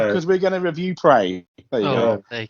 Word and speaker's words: Prey: so it rhymes with hay. I just may. We're going to pay because we're going to review Prey.